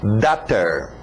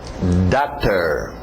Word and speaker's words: daughter: Alright, lembra da pronúncia de water? Então só muda o W para um D. Daughter. Daughter. Daughter.